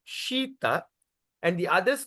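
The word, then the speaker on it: śīta: [laughter and clears throat] So S with apostrophe means what? We're going to pronounce like shampoo.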